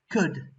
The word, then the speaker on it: could: one complete this task could could and the silent litter is l the next one answer